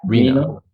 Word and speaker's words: Reinno: how do you pronounce the company's name? The company is called Reno. Reno.